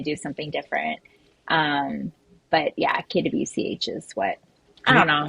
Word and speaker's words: KWCH: So to Troy, TKG, and Carbon: do you pronounce it KWCH or Kwitch? Oh, KWCH. KWCH. yeah, dude. All Wait, letters. how did you say it? Kwitch. Kwitch. K-Witch? Who the hell says Annette, K-Witch?